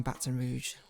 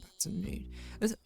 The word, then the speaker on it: Baton Rouge: First rapper to use crash out in a viral song, Baton Rouge. I always thought it's Baton Rouge. Is it Baton Rouge? Baton Rouge. Invisible S.